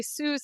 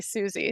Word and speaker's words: SUSC: Oh yeah, Suze? yes. Some people involved say Suze and some people say Susie, so you're fine either way.